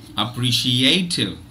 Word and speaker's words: appreciative: of this word okay so it is appreciative appreciative appreciative now will this not take a not